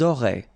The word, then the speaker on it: auraient: Elles auraient. And then look, if you've got A-I-E-N-T, then phonetically it goes like aurait.